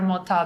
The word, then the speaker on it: Mota: Mota, yes.